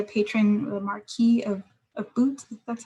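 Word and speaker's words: Bute: she finds the patron the marquee of a boot that's how you pronounce that um and so she yeah she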